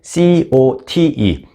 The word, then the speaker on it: Cote: 플라워라고 안 써 있고 cote 한국식 발음 꽃을 제대로 발음하기 위해서 이렇게 썼습니다 cote로 표기하고 있습니다 메시의